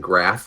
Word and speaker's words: Graf: And Graph rhymes with calf.